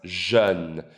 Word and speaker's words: jeune: Pronounced jeune.